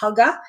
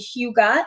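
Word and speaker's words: hygge: the name when I read I I was pronouncing it right I thought it was Hugga and then on their website I learned very quickly it's actually Huga and that is Danish and that stands for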